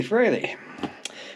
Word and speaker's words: Frey: pronounce his name and there's three different pronunciations that he's used to hearing but he even says on there that it's fry Frey fry all right so the